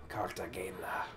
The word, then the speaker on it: Cartagena: Cartagena. Is that how you pronounce it? Cartagena.